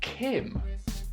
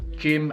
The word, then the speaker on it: Jim: but to be fair I have the same issue when saying my own name Roy and I both seem to have lazy J's in our pronunciation it happens to me all the time when I meet people hi I'm Jim Tim no Jim Kim no Jim as in Oh nice to meet